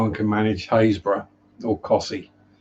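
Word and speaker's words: Costessey: manage haysbrough nor cossy cossey is one that would always catch people out because like there was a team on robot wars and the guy who announced them always got it wrong he couldn't pronounce cossy he always added all the extra letters in aren't pronounced drop the eye in hand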